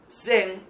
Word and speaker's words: Zen: la forma del budismo Zen. Lo pronuncio así porque se escribe con Z para que quede claro.